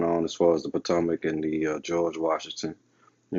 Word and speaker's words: Potomac: Patawamek, as they pronounce it. Originally, now it's been repronounced to Potomac. So this is why it's called the Potomac River.